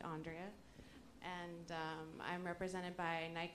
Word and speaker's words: Andrea: My name's Andrea. You can say it like five ways, but it's actually Andrea.